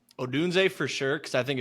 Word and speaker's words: Odunze: Definitely Marv and probably is it Undun? How do you say it? Odunze? Yeah, Odunze.